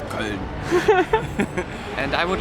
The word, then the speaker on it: Köln: In German it's Köln.